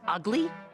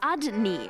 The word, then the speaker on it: Udney: Didn't he say his name was Ugly? It was Udney, and you know it.